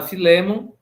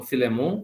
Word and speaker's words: Filémon: não fundou, excetuando, obviamente, a carta a Filémon, ou Filemon, conforme a pronunciação que vocês utilizam, onde ele escreve a um indivíduo.